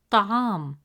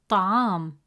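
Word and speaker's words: طعام: Third example, the word ta'am. In the word ta'am, meaning food, the letter ayn has a fatha vowel, which gives it a short a sound, pronounced as a.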